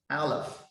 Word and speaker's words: Aleph: However, when we read this letter as a single letter, it should pronounce Aleph. It composes three letters in order to pronounce the single letter word, Aleph.